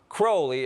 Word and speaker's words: Crowley: In his own writings, he said it's pronounced Crowley, it rhymes with holy.